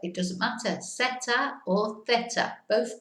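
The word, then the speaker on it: zeta: And the last letter, la última letra, theta. Theta again. Theta or seta. Yeah, if you don't want to do the lisp, it's okay to do seta.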